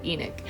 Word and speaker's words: Enoch: spelled e n o c that's how we pronounce it Enoch we are kind of starting to go down